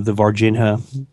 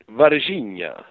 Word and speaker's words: Varginha: In case not, maybe you can just give a brief little description of the Varginha. What's the proper pronunciation? How do the Brazilians say it? Varginha.